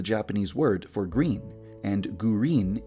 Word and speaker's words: Gurin: Midori is the Japanese word for green, and Gurin is the Japanese pronunciation of the English word green.